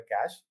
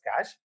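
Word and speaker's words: cache: जो ये ये लिखा हुआ है कैश। So this is pronounce S कैश।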